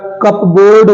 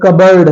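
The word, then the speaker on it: cupboard: ओ ए आर डी ये बेटा कपबोर्ड नहीं है ये कप बोर्ड नहीं बल्कि कबर्ड है इसमें पी साइलेंट है तो केवल कबर्ड है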